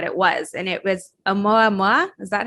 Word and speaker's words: Oumuamua: didn't say what it was, and it was Oumuamua.